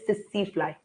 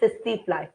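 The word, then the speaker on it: tsetse: The name of the bug is sissy fly. T is silent. Don't say tissy tissy. Say sissy fly.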